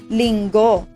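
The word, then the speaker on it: Linggo: of week is lingo let me pronounce it by syllable ling go lingo important points to remember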